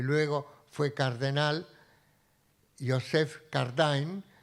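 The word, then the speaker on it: Cardijn: luego fue cardenal, Joseph Cardin, algunos la pronuncian a la francesa Cardin, que lleva ese método y le dice, el Papa dice, ese es el método de la doctrina social.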